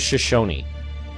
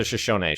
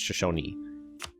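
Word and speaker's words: Shoshone: It is Shosonyi. You do pronounce that last letter there. I I actually checked by asking someone who is from that tribe that I know. Like how do you pronounce this? Shosony. Well, I pronounced a Shashon. She said it's Shashonyi.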